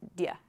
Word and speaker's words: do you: Good for pronunciation, but don't write dia. It's kind of strange. So just write do you, but when you pronounce it, say dia.